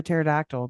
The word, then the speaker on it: pterodactyl: Why can't you hear a pterodactyl go to the bathroom? Why is that? The P is silent. Ooh, like the G in lasagna.